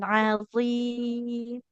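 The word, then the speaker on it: عظيم: Ujung lidahnya ke ujung gigi seri atas. Walahum azabun azim. Walahum adabun adim. Tidak adim. Azim.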